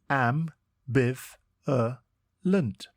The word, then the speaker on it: ambivalent: It is pronounced am-biv-er-lent and is spelt A-M-B-I-V-A-L-E-N-T. Think am, biv, the letter A, and then lent.